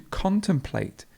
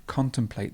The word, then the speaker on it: contemplate: a consumer and consumption to contemplate to contemplate the stresses at the beginning then we have contemporary